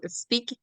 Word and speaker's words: Speke: do you guys talk about on it's called speak speak podcast am I saying it right yeah